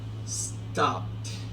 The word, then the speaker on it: stopped: Este ed puse acá va a sonar como una t y listo, ya lo llevé a pasado. Stop. Stop en presente y en pasado sería stopped. Stopped. Eso es voiceless y es un sonido stopped.